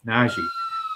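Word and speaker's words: Nnaji: Yes, Naji. Uh, Naji. Yeah, there it is. 4500 with Valenunis. I expect Valenunis to be ruled out. So Naji Naji should get tons of run tonight.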